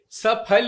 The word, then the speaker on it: सफल: सही कह रहे हैं, सफल ही है। सफलता ये हिंदी का वर्ड है और इसको इसी तरह से प्रोनाउंस किया जाना चाहिए था।